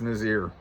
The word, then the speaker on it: Nazar: Anyway, Frankie Nazar, that's how I say it. I think it's Nazir is how it's actually pronounced.